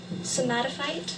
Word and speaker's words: somatophyte: we have the part of speech space noun somatophyte are there any alternate pronunciations no somatophyte yes somatophyte somatophyte s o m a t